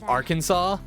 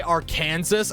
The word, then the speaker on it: Arkansas: of how people pronounce Arkansas I swear if I I had to listen to someone say AR Kansas I'm going to flip it's not AR Kansas it's Arkansas does the school's atmosphere